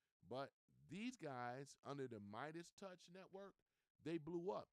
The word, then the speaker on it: Meidas: The biggest names in the space right now is without a doubt, it is what we call the Midas Touch Network. They spell it weird and different. They spell it MEIDAS.